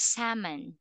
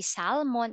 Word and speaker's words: salmon: the that one is salmon yeah it's so silent L we don't say salmon it's salmon how about with this one